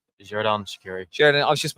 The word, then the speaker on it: Xherdan: Xherdan Shaqiri.